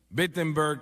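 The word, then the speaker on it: Wittenberg: Alemania o no perdón empieza con una W pero se pronuncia con una B bettenberg Alemania y clava sus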